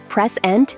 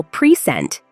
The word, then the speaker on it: present: give something in English the stressed syllable changes the meaning of the word prent is the noun the gift while prent is the verb to